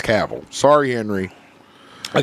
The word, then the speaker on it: Cavill: exactly like gaville and I realize I've been saying Henry's name wrong oh really the entire time Kush corrected what is it caval caval it's caval what is it what were we saying before Caville Caville yeah like like a European but